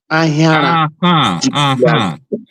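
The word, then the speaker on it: Ahiara: Ahira. I was pronouncing it like English pronunciation.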